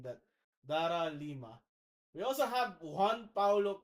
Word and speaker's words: Dara Lima: She is Daria Dara Lima. Sorry for mispronouncing that. Dara Lima.